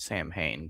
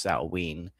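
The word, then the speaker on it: Samhain: Saturnalia Baltain Sam saw I always want to call it Sam Hayne, but it's technically pronounced Saul even though that doesn't make any sense to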